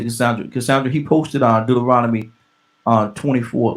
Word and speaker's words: Deuteronomy: The Can one of y'all pronounce that for me? Deuteronomy.